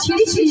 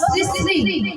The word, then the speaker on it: শ্রী শ্রী: আরে মাসি ওনার নাম ছিড়ি ছিড়ি না, বলো শ্রী শ্রী।